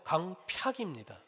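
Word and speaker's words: 강퍅: 우리가 읽으면서도 발음하기 힘든 단어인데요. 강팍이라는 단어입니다. 많이 들어보셨죠? 흔히 우리가 강팍하다 하는데 정확하게 말하면 강팍입니다.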